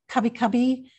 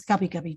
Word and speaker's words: Kabi Kabi: languages and other languages, there are often sounds that are in between two letters within the English alphabet. And with Kabi Kabi, we spell it K-A-B-I, K-A-B-I.